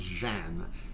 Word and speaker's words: jeune: In Louisiana French, the word jeune is typically pronounced Jeanne.